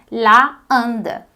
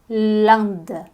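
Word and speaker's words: l'Inde: litali a índia também a gente não pode dizer la anda tá errado você vai dizer Land Land tudo pronúncia que você já conhece né I Land Land Repete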